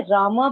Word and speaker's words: राम: हरे राम बोलते हैं, तो इसका सही प्रोनाउंसिएशन क्या है, राम या रामा? दोनों ही सही है माता जी। कई लोग पूछते हैं कि कृष्ण बोले या कृष्णा बोले, राम बोले, रामा बोले, दोनों सही है, कुछ भी बोल सकते हैं।